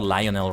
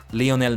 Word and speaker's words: Lionel: How do you think Lionel Messi would do at this? I think it's Lionel and not Lionol, right? Especially since he's Argentinian. It would be as a a Spanish pronunciation of that. Leonel Messi.